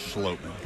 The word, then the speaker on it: Schlottmann: Pronounced Schlottmann.